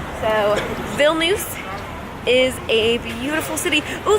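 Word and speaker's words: Vilnius: it and I said how do you pronounce me with this city and she let me know it's bill nice that I was completely pronouncing it wrong so bill news is a beautiful city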